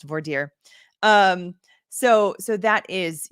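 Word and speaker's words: voir dire: you are in a Texas state court it's vire and I went to law school in Texas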